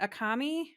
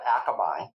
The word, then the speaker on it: Akamai: It's called Akamai, Okay. Akamai. which, Okay. oh boy, uh, it means it's a Hawaiian word. It's also a fish, but oh gosh, they're going to get my favorite clients are going to get so You mad at me. you were putting the emphasis on the wrong syllable.